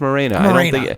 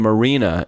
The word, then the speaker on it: Morena: I still fucking mispronounce his last name, don't I? Is it Morena? No, I think you have it right now. I think it is Morena. I was calling him Marina, and that's not right.